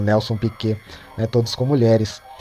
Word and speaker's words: Piquet: Ali eles se escrevem como Nelson Piquete, mas é um Nelson Piquê.